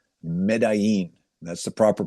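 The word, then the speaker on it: Medellín: And it was in a city in Colombia called Medí. That's the proper pronunciation of Medí.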